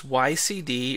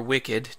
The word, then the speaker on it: wicd: We use wicd or wicid, depending on who you ask how it's pronounced.